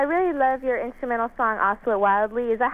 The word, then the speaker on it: Oscillate Wildly: I really love your instrumental song, Oscillate Wildly. Is that how you pronounce it? Oscillate Wildly.